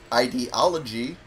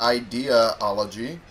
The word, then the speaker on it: ideology: words were incorrectly pronounced ideology not idea-ology and okay anyway who is dr.